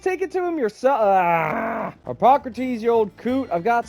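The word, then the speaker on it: Hippocrates: Hypocrates. That's how you pronounce it.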